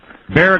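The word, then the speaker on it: Bexar: Bear County, right? Yes, sir. B-E-X-A-R, but it's pronounced B-E-A-R.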